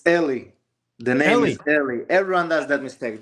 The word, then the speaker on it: Eli: name it's crazy so Ellie is how you say it right Ellie Ellie everyone does